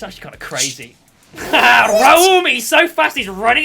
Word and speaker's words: Raum: Yeah, that joke doesn't make sense if you pronounce it like that. Yeah, his name's actually Raum, not Rum.